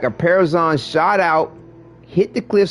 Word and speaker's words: Parazon: Is am I pronouncing that right? Parazon.